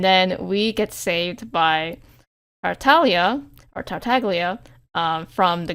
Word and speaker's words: Tartaglia: um in English, but obviously the G is silent in Italian, so it should be Tartalia, but but they gone for Tagalia in the game.